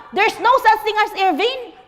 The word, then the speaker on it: Irvine: And you look up Irvine. Thank you. It's Irvine.